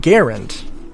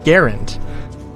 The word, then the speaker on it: Garand: was John Garand and insisted on pronouncing his name Garand. So and maybe I have it backwards. I hope I don't. But like, you know, I mean, like, I would never call him John Garand because like that's not how he pronounces his name. If I wanted to be disrespectful to him, I would call it that. But, um, it's John Garand.